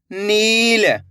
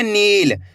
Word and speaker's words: नील: नील। खींच के पढ़ना आपको नील, ऐसे नहीं पढ़ना नील। अगर आप नील पढ़ दोगे तो इस तरीके से छोटी ई की मात्रा का उच्चारण हो जाएगा।